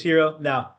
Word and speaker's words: Heron: So yeah hero is one pronunciation some uh most of the time his name has a n at the end. Hero. So it's heron extra I there. So heron or hero one of the two.